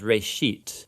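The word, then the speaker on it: ראשית: of it's called genesis genesis comes from a hebrew word uh it's pronounced reishit and it just means beginning now there's a lot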